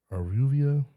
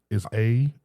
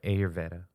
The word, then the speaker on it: Ayurveda: Aruvia, Arveda. I don't know. But it's Ayurveda. Yeah, Ayurveda. Ayurveda.